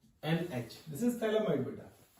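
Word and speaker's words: Phthalimide: This is थैलामाइड बेटा। This is known as PH is silent थैलामाइड।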